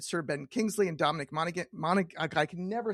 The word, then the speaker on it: Monaghan: He won an Emmy for revision Tomb Raider, directed Sir Ben Kingsley and Dominic Monaghan I I can never say his name. Help me out. Monaghan.